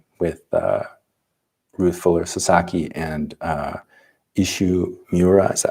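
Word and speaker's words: Isshu Miura: the zen koan with ruth fuller sasaki and ishu miura is how you say his name and also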